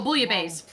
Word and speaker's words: bouillabaisse: pronounce the word. Bouillon, Buillion. Not bouillon. Bouillabisse. Oh, bouillabaisse.